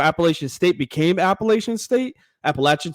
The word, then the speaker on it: Appalachian: State became Appalachian State Appalachian sorry I'm in North Carolina I said it wrong please don't get